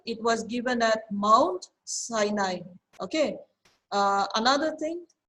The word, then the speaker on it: Sinai: okay uh another thing some people um you know you say sinai right that's okay i think as long as it's uh you know we can understand but the actual the real pronunciation of this word is sinai okay so you may